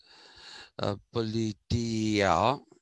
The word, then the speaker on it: politeia: ideal politia i hope you remember that uh politia that's how it is supposed to be pronounced so the ideal politia got translated as